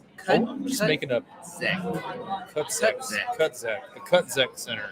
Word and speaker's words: CutX: CutZek. The CutZek Center. The X is a Z sound. The Z is silent.